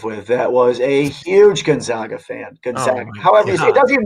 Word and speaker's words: Gonzaga: you guys haven't heard him it's gonzaga uh pronounced gonzaga and um yeah so that's who i that